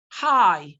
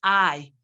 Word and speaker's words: hi: Hi, not I.